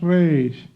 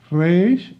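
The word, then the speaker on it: ריש: Okay, that's the Resh. You can pronounce it as a Spanish speaker, Resh, or you can also use the French way to speak the R.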